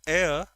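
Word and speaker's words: heir: There's an ambiguity here because if you say air, I hope you remember from articles because it is pronounced air. H is silent here.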